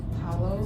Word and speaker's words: Halo: This is the Smashbox Halo. Pretty sure that's how you say it. Some people say Hollow. This is in the color Deep.